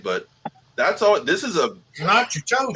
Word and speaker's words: Natchitoches: That's what we call it, Natchitoches.